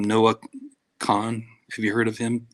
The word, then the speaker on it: Kahan: what's his name, Noah Khan. Have you heard of him at all? I haven't. Yeah, it's his last name is spelled Kahan.